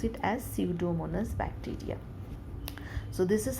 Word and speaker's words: Pseudomonas: P is silent. You pronounce it as Pseudomonas bacteria.